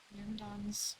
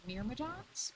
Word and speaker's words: Myrmidons: The Myrmidons were the army of Achilles. Which way is it supposed to be pronounced? Is it Myrmidons or Myrmidians?